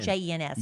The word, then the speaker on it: Jens: It's spelled JENS. It's Jens.